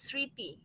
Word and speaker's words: স্মৃতি: ইয়া, একটা কোশ্চেন ছিল, বাংলা একটা ওয়ার্ড আছে স্মৃতি, এখানে কিন্তু মটা উজ্জ থাকে, সাইলেন্ট হয়ে যায় না, স্মৃতি যুক্ত অক্ষর, ঠিক আছে, স্মৃতির যে যুক্ত অক্ষর, দ্যাট ইজ সামথিং ডিফারেন্ট।